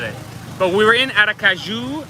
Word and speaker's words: Aracaju: But we were in Aracaju. I keep saying it wrong. No, that's right, Aracaju.